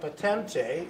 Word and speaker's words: Patente: and the bride, Erica Patente, is that pronounced correctly? Yes.